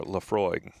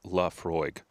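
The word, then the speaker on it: Laphroaig: Oh, and and thank you our one uh esteemed listener for this beautiful bottle of 10-year Leafroy. Leafroy. Oh, it even says it on here. Pronounced Laafroy.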